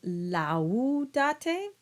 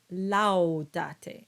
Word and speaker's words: laudate: Would you say laudate? Doesn't quite sound right. In fact, it's a diphthong. You would say laudate. And it's just like saying wow.